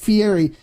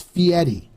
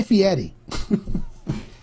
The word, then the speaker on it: Fieri: on Fieri it's not Fieri it's fiti so the way it's pronounced as like Fe and Eddie so fedie so it's guy fi Edie just for you know